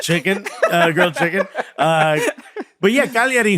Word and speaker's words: Cagliari: but they can't beat Cagliari, who they drew 3-3 against. You're going to get so much hate from the Italians because you pronounced the G in that, by the way. Cagliari.